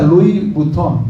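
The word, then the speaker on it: Louis Vuitton: anuncio no apagado que decía eh se pronuncia Luis Butón, ¿verdad?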